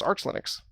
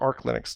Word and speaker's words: Arch Linux: and and stumbled across arch linux which or arc linux depending on who you talk to how you pronounce it um and that's where